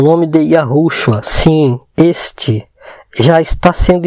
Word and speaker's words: Yahushua: viram pessoas louvando, fazendo culto ao nosso Salvador com o nome de Yahushua. Essa pronúncia, e não é essas que eles dizem ser.